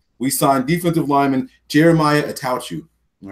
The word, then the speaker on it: Attaochu: Attaochu.